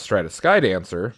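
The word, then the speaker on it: Stratus Dancer: I saw this as I was looking for another specific card, which is Stratus Skydancer, right, Max? That's how you pronounce that?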